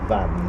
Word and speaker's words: Vange: well I looked up and it is apparently pronounced Van Every time I point the camera away it